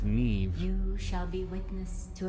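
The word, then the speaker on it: Niamh: may call me Neve so her name is pronounced Neve you shall be witness to a fable pay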